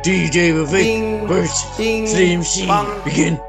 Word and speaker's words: Vivek: It's Vivek like cake. I'm not fake, and I swim in a lake of truth. That's me, Vivek. Yeah. It's Vivek.